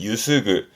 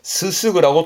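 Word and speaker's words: 濯ぐ: 동사로 쓰게 되면 발음은 유스그, 유스그 하게 되면 헹구는, 뭐 빨래를 헹군다도 있지만 뭐 입을 헹구는, 그죠? 물로 입을 헹군다라든가 그럴 때 유스그를 참 많이 쓰게 됩니다. 근데 한자는 잘 안 쓰고요. 보통 히라가나만 쓰는 편이세요. 그런데 이거를 스스그라고 또 읽기도 합니다.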